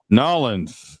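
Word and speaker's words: New Orleans: Nolans.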